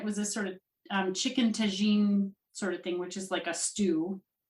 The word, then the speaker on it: tagine: Can I ask, where is chicken tagine? Is that how it's pronounced?